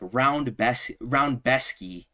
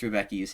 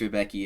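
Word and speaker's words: Rębecki: He be calling him like Roundbesky. Like, he's saying the dumbest pronunciation of Mateusz Rebecki's name. I'm just going to say Rebecki because that's how it's spelled there. I think there's even an accent somewhere over like the C or the E or something.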